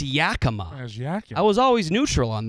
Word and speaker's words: Yakima: it was ridiculous that I mispronounced Yakima as Yakima they're so mad Yakima is literally the phonetic pronunciation of the word y-a-k-i-m-a when would you ever